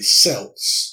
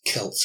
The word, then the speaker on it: Celts: spelled see elts and so you might say cells and the Celtic but the correct pronunciation is Celts and Celtic were people known to the Romans